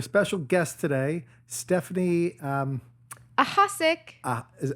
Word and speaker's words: Ahasic: we have a special guest today Stephanie um aask is how do you pronounce it aask aask okay you were right sick okay sick dude